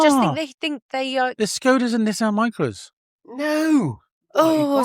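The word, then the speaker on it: Škoda: Skodas is called Skodas. So No, they're not. They're called So why? Skoda.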